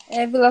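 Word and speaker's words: Hévila: Qual é o seu nome, por favor? Évila? Évila. Évila? Por favor, fale. Évila? É assim? Se escreve seu nome? É. H-E-V-I-L-A. H-E... V-I-L-A. Évila.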